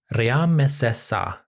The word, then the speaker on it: Ramesses: In the diplomatic writing, the name, which in hieroglyphs is Ramesses, comes across more like Ramessesa.